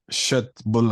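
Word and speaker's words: köttbullar: Cut. Cut. Buller. Shut bull.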